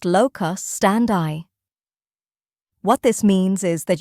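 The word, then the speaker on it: locus standi: So the first thing I need to explain is the concept of lock stand that is pronounced locus stand eye.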